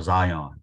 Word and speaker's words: Zion: Is it Zion or Zion? How do you pronounce it?